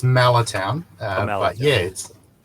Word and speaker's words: Mallertown: But before we get into that, what are you up to and what is this Mahler town? What's going on? Am I pronouncing it correctly? Not quite, it's Malatown, Oh, Mahler but town.